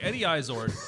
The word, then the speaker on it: Izzard: it's the second syllable is pronounced ard, not erd. So as I was saying, Eddie Izzard.